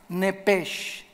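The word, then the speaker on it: נפש: la palabra alma es la palabra nepe así como suena nepeshn PH Ya vimos que es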